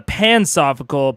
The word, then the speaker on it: pansophical: one um escal on the uh pansophical pronounced like pansexual oh pansophical not